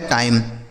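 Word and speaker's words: time: से हो गया दोस्तों ट इस आई का उच्चारण आई हो गया एम और ई से मैं लिखा है टाइम टी आई एम ई टाइम ठीक है एफ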